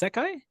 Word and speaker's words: SEKAI: us Bruno and Stefan over from is it pronounced seai s e k AI absolutely correct perfect well